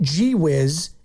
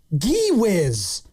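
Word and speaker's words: Gui: He says, not G-Wiz, it's spelled Gee-Wiz.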